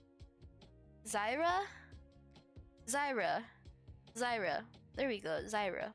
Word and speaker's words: Zyra: So it's like Swain, LeBlanc, and is it Darius or Zarya? Not Zarya. Zaya. Not Zaya. Frick, how do you say her name? Poisonous Ivy, but League of Legends. I forgot her name. Zyra?